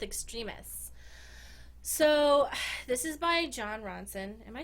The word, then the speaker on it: Jon Ronson: so this is by Jon Ronson am I saying I always get his name wrong was it yeah it was Jon Ronson I usually call me Ron Johnson I don't know why